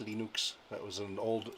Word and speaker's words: Linux: it comes to linux hello my name is venus torvalds and i pronounce linux linux that was an old